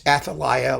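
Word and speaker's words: Athalia: who was i right it's atalia like jeremiah that's the way you pronounce aphilia now athelia this is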